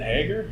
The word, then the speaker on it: Hager: Is it Hager? It's Hager.